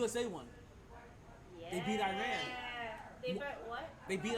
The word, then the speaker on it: Iran: It is not Iran, it is Iran.